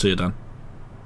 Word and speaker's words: Círdan: if it's got a C on the beginning, you never know if it's S or C that it's pronounced. So why would he go to him?